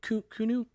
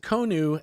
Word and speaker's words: Konu: Would you call it Konu or Kunu? Yeah, Konu. Yeah. Konu.